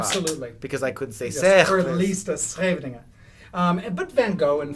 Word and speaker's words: Van Gogh: But Van Gogh and Van Gogh is really Van the same.